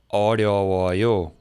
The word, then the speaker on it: 어려워요: 려 specifically, this one, 릴, 여, was very, very hard for me for years. I think I said it wrong, and it clicked one day for me when someone told me to think of it as 리 plus 어, and say that quickly.